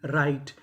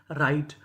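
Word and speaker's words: write: जैसे डब्ल्यू आर आई टी ई राइट। यहां पे हमें डब्ल्यू का उच्चारण नहीं करना। राइट।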